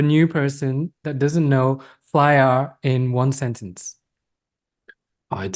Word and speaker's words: flyAR: well what no that was in English yeah flyer I say flyer okay you can say fly a can you describe to a new person that doesn't know flyer in one sentence I'd say flyer is um